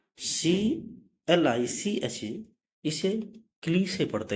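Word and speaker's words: cliché: अगला वर्ड है CLICHE, क्लिस। तो यहाँ पे ई का उच्चारण ए हुआ। अगला वर्ड रूल है, जब किसी, सॉरी यहाँ पे जो एक मिनट, रूल नंबर 6 ये जो CLICHE, इसे क्ली से पढ़ते हैं।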